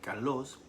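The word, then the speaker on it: καλός: Cuando en griego aparece el vocablo kalos, K de kilo, A-L-O, acento en la O-S, kalos, significa ideal, modelo o excelente.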